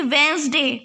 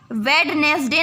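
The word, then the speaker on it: Wednesday: तो वेंसडे लिख देंगे, इसमें डी साइलेंट होता है, ठीक है, इस स्पेलिंग में डी साइलेंट होता है, इसलिए इसे वेडनेसडे ना बोल करके इसे वेंसडे बोलते हैं, ठीक है, और इसमें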